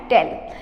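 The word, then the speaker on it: taille: Second tax आता था टेल, ठीक है, इसका प्रोनाउंसिएशन है टेल।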